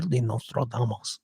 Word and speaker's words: Nostradamus: Nostra Mish Michel Nostradamos is the correct pronunciation. Uh, Nostra, I used to play Nostradumbass when Kelly and I would do our uh our predictions for the new year. Nostradamus was a uh 15th or 16th century.